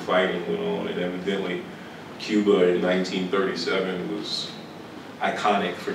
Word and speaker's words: Cuba: this poem it's called Cuba in Mount tab but Cuba in Kingson Arkansas is pronounced Cub um and I was